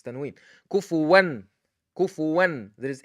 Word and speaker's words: كفوا: Why I pronounced the noon? Because following the noon is hamza. And the hamza is one of the 6 letters of izhar.